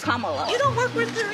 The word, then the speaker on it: Kamala: Earlier you said Camala. Way she pronounces her name is Kamala.